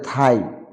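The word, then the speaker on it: thigh: তারপরে থাই মানে উরু। তারপরে দো, জিস উইল বি সাইলেন্ট, দো মানে যদিও।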